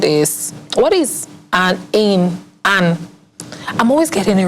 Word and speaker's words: Anne: Anne. And then it's ANN. Anna. No, not A. NN. That's still Anne. You know the E is silent in both cases.